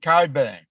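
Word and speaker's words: Cockburn: in Western Australia and it's spelled c-o-c-k-b-u-r-n but they pronounce it Coburn for some reason well the thing is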